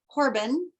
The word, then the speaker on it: Horobin: active on linkedin and my last name is spelled h-o-r-o-b-i-n so it's pronounced corbin i'd love to chat